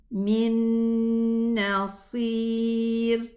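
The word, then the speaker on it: مِن نَّاصِرٍ: How are we going to pronounce this? We are going to say min nasir, minna, min nasir. Okay, so what happened here? There is a ghunna, And the scholars said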